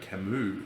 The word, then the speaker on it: Camus: um now i think i've been mispronouncing his name i think it's albert camus not albert camus so um i think